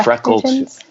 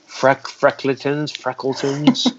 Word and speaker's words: Freckletons: Oh, I said your name wrong. It's Freckletons. Freckletons.